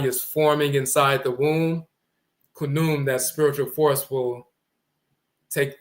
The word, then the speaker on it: Khnum: But Ni Ankh Khnum and Khnum Hetep, 5th dynasty in Kamit. Who are they named after? The flat-horned ram divinity named Khnum, which we pronounce in Akan Kunim, the potter deity.